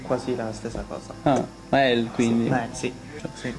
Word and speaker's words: Mael: Mal, giusto? Si pronuncia sì, Mael. Mael? Sì. Ma si dice Mael proprio? Sì, sì, sì.